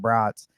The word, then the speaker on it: Bratz: my name is Bratz yeah I know in parentheses and I put pronounced like the sausage not the doll yeah people get the